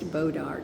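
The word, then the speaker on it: bois d'arc: The bodark tree, and this is pronounced bodark Uh-huh. in Texas. But the Bodark. real name is Bodark. B-O-I-S. It's a French word. B-O-I-S. Mm-hmm. Capital D/ARC. But when you come to Texas, it's pronounced bodark.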